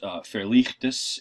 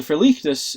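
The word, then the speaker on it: verligtes: The Verlichtes, as they saw, and I'm pronouncing it with the German accent at this point, Verlichtes, okay.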